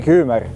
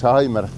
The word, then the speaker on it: Hymer: Yeah and I'll correct Meelis and Karin, they like to say "Haimer" which is correct, but in Germany, they say "Hümer". Yeah, they do say "Hümer" in Germany and so will I, everyone pronounces it the way they like.